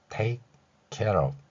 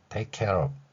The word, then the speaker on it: take care of: F는 여기서 V 소리가 납니다. 따라서 V에 해당하는 소리로서 비읍 아래에 작은 동그라미를 친 글자 표기로 나타냈습니다. 영어의 V 소리는 윗니로 아랫입술을 물고 목젖이 울리는 소리라는 복잡한 특성을 가지고 있습니다.